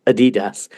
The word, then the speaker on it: Adidas: So any American listeners, when we're talking about Adidas, the correct pronunciation, what you should be hearing is Adidas, which you very wrongly say.